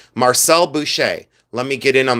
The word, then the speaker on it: Marcel Boucher: That's the way it's pronounced correctly. Marcel Boucher.